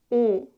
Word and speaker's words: 오: When you pronounce 오, you need to round your lips. 오, like this. Add a bit of tension and make your lip rounded. But don't push your lips outward like 우, because if you push